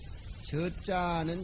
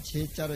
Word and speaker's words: 저자: 옮겨야 되겠지요 그런 소리야 저자는 제자로 읽으면 안 되고 지어 명사를 해가지고 저자 발음으로 읽어 줘야 돼 자로가 무기를 의리를 들으면